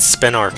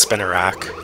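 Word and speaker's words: Spinarak: the a and it's it has uh two a's in its name and i sometimes miss the second a that it has but yeah it's pronounced spin iraq now that one i'm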